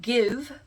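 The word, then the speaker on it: GXVE: It's apparently called Give. The X is supposed to be like an I, because Gwen Stefani used to put an X for an I in her name or something.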